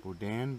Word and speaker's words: boudin: And what we having is Goudin, or how you say it? Doudan? Boudin, Boudin. Depending on which side of the bayou you're from.